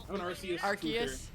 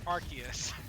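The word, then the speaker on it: Arceus: Do you say Archus or Arus? Arus. All right. You're both wrong because in the anime they say Archus.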